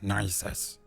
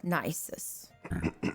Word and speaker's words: Nysus: As we understand, his name is Nisus. Nisus. Okay. He doesn't seem very nice. I was about to say it doesn't seem very nice. It is spelled in common Nysus. Okay. Okay, so not nicest.